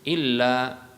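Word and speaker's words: إلا: Yang benar adalah ya dengan memanjangkan illa, ya, illa, ya. Itu satu alif atau dua harokat, ya. Itu satu alif atau dua harokat, ya. Jadi satu alif itu sama dengan dua harokat. Jadi membacanya adalah panjang.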